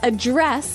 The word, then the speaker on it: address: pronounce it differently so the verb address has the the stress on the second syllable okay address yes and